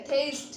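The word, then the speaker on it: atheist: यहाँ ए साइलेंट है, थेइस्ट, थेइस्ट मतलब नास्तिक, ईश्वर पर विश्वास न करने वाला।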